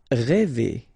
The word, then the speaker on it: rêver: Rêver. Okay? Accent circonflexe, so this accent on the top of E, okay, will produce the sound E, really open one. E, okay? So rêver.